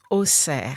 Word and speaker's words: Auxerre: Yes, Auxerre. Auxerre. Yes. Is that A-U-X? Is that how you pronounce it? Say it again. Auxerre.